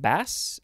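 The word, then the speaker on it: baas: Now we have, I think it's pronounced bass, B-A-A-S.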